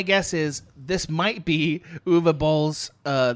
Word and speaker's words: Uwe Boll: My guess is this might be Uwe Boll's, which is how I'm supposed to pronounce his name. I was told Uwe Boll.